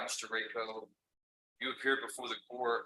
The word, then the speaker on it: Rayco: All right, this is cause number CR 21-90, and it's pronounced Rayco. Is that correct? That's correct, Judge.